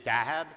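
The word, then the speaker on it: Daheb: for many reasons one I'll tell you actually deib is a mispronunciation of my name it actually is dahab and before I was skateboarding on the streets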